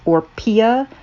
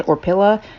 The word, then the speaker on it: Orpilla: I am assuming it is pronounced Orpia. I don't think it's Orpilla.